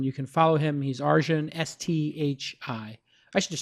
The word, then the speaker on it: Arjun: He's Arjun, Sthi.